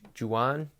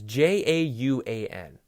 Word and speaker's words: Jauan: Juan. It's Jauan.